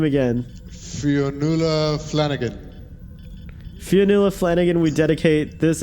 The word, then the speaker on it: Fionnuala Flanagan: Fionnuala Flanagan.